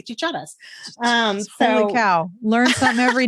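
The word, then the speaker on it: chicharra: My husband is from Virginia, so he'll say cicadas, but in Spanish we say chicharas.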